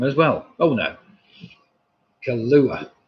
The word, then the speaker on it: Kahlua: as well oh no kahlua oh god no i just can't say it that's the answer isn't it julie not kalula right okay i shouldn't pronounce